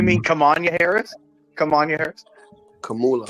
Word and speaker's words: Kamala: Kamanya, you mean Kamanya Harris? Kamanya Harris? Kamala.